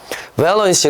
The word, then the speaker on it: avalanche: 눈이 많이 오는 건 heavy snow, 그리고 좀 전에 blizzard, avalanche, 발음이 뭐라고? avalanche 이렇게 하는 거야.